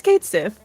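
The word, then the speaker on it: Cait Sith: They tweeted like how you actually pronounce Kate Sith. Is it So Kate it's like, Sith? yeah, it's Kate Sith.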